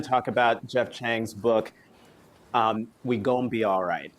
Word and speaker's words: We Gon Be Alright: We Gon Be Alright is how you pronounce it.